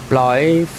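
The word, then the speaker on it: Blaidd: So you pronounce it B-L-A-I-D-D-D-D. Blythe.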